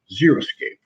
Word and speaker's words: xeriscape: idea with water at the beginning picture xeriscape zero skate that's that's how it's pronounced zero escapist but Lynette and it is